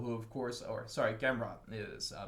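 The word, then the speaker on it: Gamrot: he took out uh gamrat uh uh matias gamra gimro who of course or sorry gameron is it's not a french name it's polish names we actually pronounce that t uh so and he's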